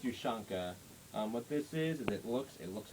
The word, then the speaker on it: Ushanka: Yeah, it's pronounced Ushanka.